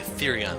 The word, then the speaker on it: Therion: Okay, Therion is how it's pronounced. Partner. Well, Therion, looks like you and I are officially partners in crime.